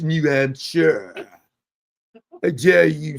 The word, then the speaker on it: New Hampshire: She said I'm saying hamster. New Hampshire. She going British on me again over here. It's pronounced New Hampshire.